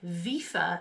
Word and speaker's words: WIFA: about the difference between via skates let's get into it they are pronounced via VIA via VIA are an ice